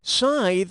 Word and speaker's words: scythe: player two it's yours scythe rhymes with tithe but i still